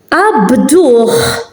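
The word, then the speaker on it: qabduh: So when an akka is at the end of a word, it is pronounced as a h, just like the ein, when it's at the end, it is pronounced.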